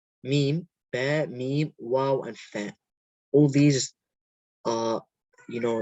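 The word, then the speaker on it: ف: Fa, pronounced from the edge of the upper front teeth and the wet part of the lower lip. So fa comes out when the edge of the top front teeth touches the inside of the bottom lip.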